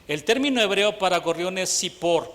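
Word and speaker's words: צפור: término hebreo para gorriones sipor con t se escribe así tz IP o r sipor y significa ave pequeña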